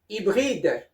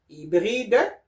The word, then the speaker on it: hybride: And now at the last one, hy, which is the sound E, like this one here, okay? As I said to you, this one is the E borrowed from the Greek language. It sounds the same like HI, which is the E, like in hybride or hybrid in English, okay?